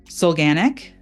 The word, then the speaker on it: Solganik: But I am really excited about our conversation today with Wendy Solganik. Did I pronounce that right, Wendy?